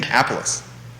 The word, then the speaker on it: Minneapolis: She's a finalist for the job in Minneapolis. Did I say it right? You did. Minneapolis.